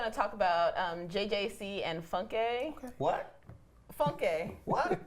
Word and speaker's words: Funke: Today we're going to talk about JJC and Funke. What? Funke. What? Funky?